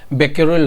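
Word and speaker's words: Becquerel: इसको क्या होता है, इसका क्या होता है, बेक्यूरेल होता है, ठीक है। मैं लिख देता हूँ यहाँ स्पेलिंग, BECQUERAEL, ठीक है।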